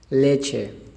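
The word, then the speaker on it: leche: सी और एच ये छे की आवाज़ देते हैं, और जब इसके साथ ई मिला इनके स्पेनिश के अंदर इसकी आवाज़ बन जाएगी छे, ले छे, ले छे।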